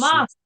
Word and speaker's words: Thomas: You pronounce his name in French. I can never do it, but Thomas. Thomas. Yeah, Thomas. Thomas. In French, the last letter is always quiet.